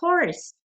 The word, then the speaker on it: horse: Aquí es a horse. La H sí se pronuncia.